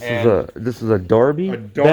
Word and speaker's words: Derby: a this is a darby it's it's spelled derby but it's pronounced darby oh wow look at